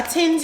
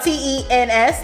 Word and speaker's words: TENS: but are you a TENS unit okay my New York accent may be saying it like in a weird way it's spelled T ENS like tens tens you it yes it's